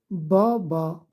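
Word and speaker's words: بابا: là ça se prononce Boba maman Boba ça veut dire papa maman ça veut dire maman voilà donc au milieu d'un mot quand c'est attaché ça se prononce toujours a comme avec le chapeau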